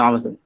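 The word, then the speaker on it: عمرو: Bin Amr. Hah? Bin Amr. Nah, kenapa Amr? Karena di situ wawunya untuk membedakan dengan Umar.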